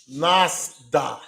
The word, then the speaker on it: Lughnasadh: year, they will have a festival called Nasda, and that is spelled Lughnasadh.